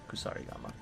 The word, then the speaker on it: kusarigama: Yeah, that's the American way to pronounce it. That hits. Mercy gamma. America. Kusari Gamma. Yeah, Kusarigama.